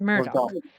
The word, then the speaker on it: Murdoch: strategy decisions yes so sincerely James or murd Murdoch yes Murdock so my resignation is due to what does